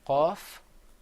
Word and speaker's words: ق: كاف Another difference is that the qaf is pronounced full-mouthed. You kind of purse your lips a little bit. You say qaf. Whereas the kaf, you open your mouth up.